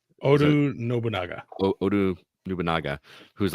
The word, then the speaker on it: Oda Nobunaga: And so either way, you were taking out these 11 people underneath, how do you pronounce it? Oda Nobunaga? Oda Nobunaga.